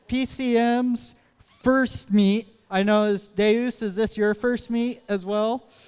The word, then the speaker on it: Deus: And their alliance partner from Waukee, Iowa is team 20180, Deuce Ex Machina. Deus? It's Deus? Saying it wrong for like 2 years.